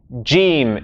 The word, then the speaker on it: Jiim: Jiim is the correct way.